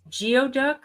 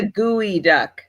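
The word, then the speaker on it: geoduck: want to go higher geod duck what are geod ducks try figure that out too it's a gooey duck is how you pronounce it duck do not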